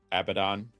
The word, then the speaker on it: Abdon: And then, you know, the um our antagonist uh wait, Abdon, which is abandoned, but is just pronounced differently, by the way.